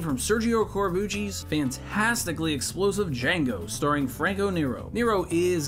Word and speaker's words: Django: The key inspiration came from Sergio Corbucci's fantastically explosive Django, starring Franco Nero. Nero is given a terrific cameo. The D is silent.